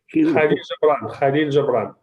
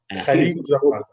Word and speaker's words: Khalil Gibran: Now here's another famous statement from how to pronounce his name? Do you know him? Khalil Gibran. Khalil Gibran.